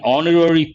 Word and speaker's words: honorary: person it is an honorary post again here the letter h is silent mute based on that we